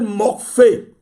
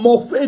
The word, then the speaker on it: Morphée: Ce démon s'appelle Morphée. Ça s'écrit M-O-R-P-H-E-E.